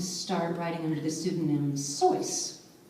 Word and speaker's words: Seuss: writing under the pseudonym choice which is actually how you pronounce it it was pronounced which rhymes with a voice but he allowed people